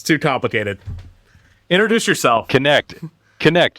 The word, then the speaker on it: Knecht: Knecht, like connect the dots. Well, that's there easy. you go. Real short and simple. Knecht.